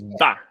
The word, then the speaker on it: Baker: It's not Josephine Baker, it's ba. It's a. Okay, the letter A is a.